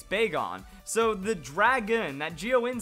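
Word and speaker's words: Bagon: another Pokemon like this big on it's not beggin it's big on so the dragon that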